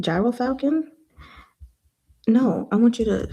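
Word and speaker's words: gyrfalcon: Hero Falcon? Gyro Falcon? No, I want you to say it for me. Oh, that's a pretty bird. Gerfalcon.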